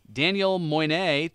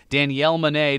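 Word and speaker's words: Danielle Moinet: Daniel Moynet to Summer Rae. Danielle Moynet. What did I say? Daniel. Oh, I put the emphasis on the wrong syllable, apparently. Danielle Monet to Summer Rae.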